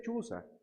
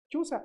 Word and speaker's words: Chuza: Chuza o Cusa, ¿no? Se puede pronunciar también así el nombre, ¿no?